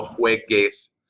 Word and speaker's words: juegues: The negative command forms of verbs that end in GAR are spelled with a GU instead of just a G to preserve that hard G sound.